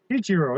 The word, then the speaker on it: Ichiro: Ichiro, yeah.